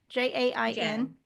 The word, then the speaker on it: Jain: Jain? Jain.